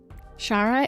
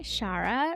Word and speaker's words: Shara: hope you enjoy I have with me today Shara and Shara am I pronouncing your name right can you let me